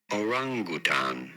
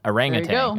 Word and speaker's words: orangutan: about pronouncing their name orangutan you do want to stress on the second syllable the r syllable Oran Oran I don't